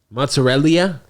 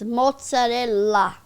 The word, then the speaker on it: mozzarella: Mozzarellia. Not mozzarellia. It's mozzarella.